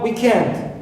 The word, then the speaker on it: weekend: right i have also weekend weekend i stress end second part not weak right also i have